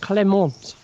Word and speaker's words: Clément: So how do you pronounce that in French? Clément.